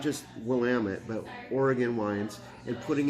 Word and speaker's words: Willamette: of this, and I just think I thank Oregon and Willamette Valley for putting this on the map, to be really honest.